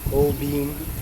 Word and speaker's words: Holbein: It really doesn't seem to matter what order the letters E and I are combined in an English word. The resulting pronunciation is a long E sound.